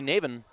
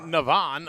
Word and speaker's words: Navin: Navin. We're saying Navin, Navin. They're saying Navon up on Navin. It's Navin. Navin.